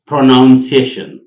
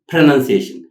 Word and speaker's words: pronunciation: ብጌጋ ዝድመፅ ቃላት ቀዳማይ pronunciation ኣብዛ ቃል እዚኣ pronoun ድብል ድምፂ የለና መጀመርያ that's very wrong pronunciation not pronunciation pronoun ድብል ድምፂ የለን